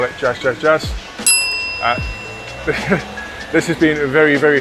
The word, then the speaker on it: Jas: spoke to the owner he's clarified how he pronounced it he is in fact um just just jazz it's named after his wife so yeah ignore what i said about the the german and the dutch side of things it's nothing to do with that he's just pronounced uh jazz so what i've ordered